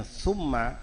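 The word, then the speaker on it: ثُمَّ: Kalau kita bacanya thumma artinya kemudian. Kalau dibaca thamma artinya di situ.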